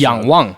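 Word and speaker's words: Yangwang: a u9 how do I what's the proper pronunciation Yang Wang Yang Wang Yang W basically means to look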